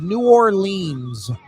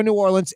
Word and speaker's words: New Orleans: New Orleans. All right. I will tell you how it is pronounced. It's It's not two syllables.